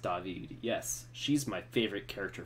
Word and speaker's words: David: Agent Ziva David, pronounced David.